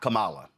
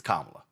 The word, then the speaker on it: Kamala: First of all, it's not Kamala, it's Kamala. So maybe you ought to get the name right, pronounce the name properly.